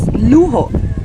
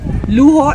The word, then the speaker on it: luho: One word is luho. Luo, L u H O, which means luxury. It's the same in Spanish, but it's spelled differently, but with a J. Luo.